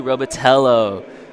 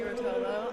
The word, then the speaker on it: Rotolo: My name is Benjamin Quach, and today with me I have Robitello. Did I pronounce it right? You did not, but that's okay. Hi, my name is Rotolo.